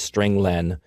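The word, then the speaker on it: strlen: nine i pronounced its string len because it means string length it returns the number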